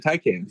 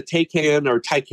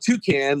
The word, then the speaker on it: Taycan: It was a year ago or so, I think, that there was a Taycan, I'm really not up on my EV pronunciation. I always want to call it Toucan, like Toucan Sam, but I know that.